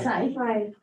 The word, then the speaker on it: scythe: A scythe.